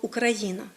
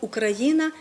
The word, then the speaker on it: Україна: говорити з позиції сьогодення ми маємо єдиний наголос у слові Україна і похідних від нього